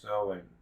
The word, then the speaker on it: Samhain: of the longest night of the year samhain pronounced sowing they believed that there was a misty veil